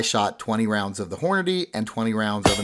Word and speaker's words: Hornady: any critical duty and asked to pronounce Hornady like that or else I keep saying horny critical duty so now the results